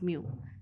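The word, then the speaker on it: μ: this form mu m this is pronounced as mu so i hope you will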